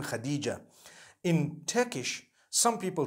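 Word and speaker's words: Hatice: e I would say hatis for that no it's actually Khadija in Turkish that's the way they write it so what subhanallah let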